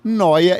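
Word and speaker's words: Neu!: Então se escreve Neu, a exclamação A, mas quer dizer Noia.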